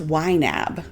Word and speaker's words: YNAB: So in wab it even says here it is pronounced wab.